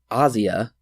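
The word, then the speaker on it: Asia: that's true so finally in 2006 Argento's daughter aja or as Argento pronounced it in the features Asya was cast as the lead after she asked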